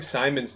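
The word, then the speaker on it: Psimon: that I've been spelling Simon's name wrong this whole time that's why it's it's psi but you say Simon Says for the record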